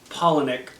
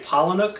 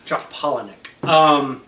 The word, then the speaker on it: Palahniuk: I've been saying Palahniuk for the longest time, and it's Palahniuk. Ah. Chuck Palahniuk. Like pollen and Nick. Well, Paula, Nick. Pollen. Paula. Pollen-Nick.